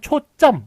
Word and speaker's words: 초점: 그래서 발음은 초점 이런 식으로 뒤가 된 소리가 납니다만 둘 다 한자어이기 때문에 사이시옷 이렇게 붙일 수가 없는 것을 볼 수가 있습니다.